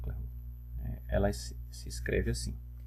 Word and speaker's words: Clairaut: chama de equação diferencial de claro ou claro, no francês não é bom não. OK? Então, essa é a equação diferencial do clô, né?